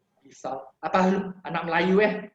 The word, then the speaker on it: pisau: And then your AU sound will be the O sound. So things like pisau will become piso, kalau will become kalau.